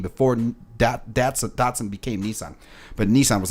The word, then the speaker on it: Datsun: Datsun, it's spelled like D-A-T-S-U-N, pronounced Datsun, I guess.